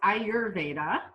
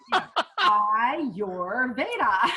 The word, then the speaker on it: Ayurveda: So it's pronounced Ayurveda. Okay. Ayurveda. I'll never be able to say that. Oh, you should. Ayurveda.